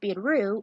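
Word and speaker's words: ビール: Lager beer, pronounced biru in Japanese, is the most popular drink, pointed out each selection.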